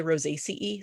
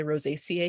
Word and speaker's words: Rosaceae: Rosaceae. Rosaceae. How do you pronounce it? I, Rosaceae. Yeah. I know that all my mentors say Rosaceae. Sometimes I slip up and say Rosaceae because that's how it is in my head.